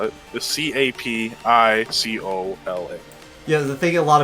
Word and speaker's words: capicola: the correct spelling um but how you actually spell it the c-a-p-i-c-o-l-a yeah the thing a lot of people in